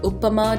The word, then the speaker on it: upma: should probably say that upma or uppama depending on how you pronounce it can be made from